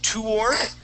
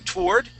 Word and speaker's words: toward: Okay, you can pronounce that toward. So like saying toward or toward. So adding more of an ooh sound or just going with an o sound. Either way is fine.